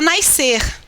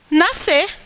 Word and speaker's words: nascer: carioca gosta de falar mais ser mas a pronúncia não é mais ser a pronúncia é nascer eu tenho um sc